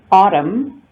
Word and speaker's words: autumn: Autumn, the N is silent.